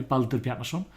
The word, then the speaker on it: Baldur Bjarnason: Yes, my name is Baldur Bjarnason, or if you want to pronounce that the Icelandic way, Baldur Bjarnason. You're never going to get that right, not unless you're raised in Iceland.